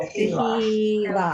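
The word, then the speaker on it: תהילה: And the H is Tehila. silent at the end.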